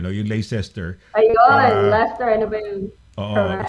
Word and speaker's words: Leicester: She's called Lester.